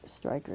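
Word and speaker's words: Stricher: confusing the Joseph Fair Striker is spelled s r i c h e r stri Striker is how say it was a German National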